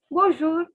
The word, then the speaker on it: bonjour: same word which is bonjour again i'll repeat don't pronounce the n guys don't pronounce the n okay it is bonjour so okay this is